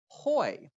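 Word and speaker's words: הוֹי: word that we translate as woe is it's pronounced hoy and the word behold is pronounced hane so we have hoi hoi hoi hoi hoy kein poi judgment with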